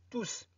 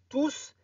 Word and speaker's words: tous: Ne prononcez pas S, ne dites pas tous. On prononce tous si le mot est un pronom indéfini. Alors, on va voir les pronoms indéfinis dans une vidéo à part.